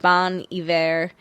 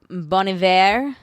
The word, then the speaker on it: Bon Iver: made that way germany the whole thing is the h isn't pronounced so that's why he can remove it it doesn't change his pronunciation gotcha yeah um it